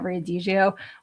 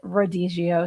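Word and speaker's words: rodízio: I kept calling it Riadio, which is a Brazilian steakhouse that I went to. And actually, I found out that that's actually Rodigio. So, I was mispronouncing that, too.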